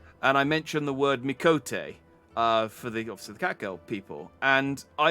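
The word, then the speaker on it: Miqo'te: suddenly thought to myself, am I pronouncing it right? I should check. And then I googled, and apparently, and this might not be the case anymore because this might have been posted before Endwalker, but apparently there's like one cutscene that's voiced in the entire game where someone actually pronounces the word Mikote. I am pronouncing it right, pretty much, but it's just interesting to me.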